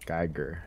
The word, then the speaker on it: Geiger: Geiger. Yeah, that's how you say it.